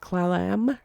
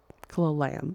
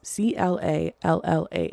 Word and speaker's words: Clallam: 2018 after a joint effort from Othram and Clayam County Sheriff's Office. I'm so sorry, I don't know how to pronounce that. Clallam. It's Clallam.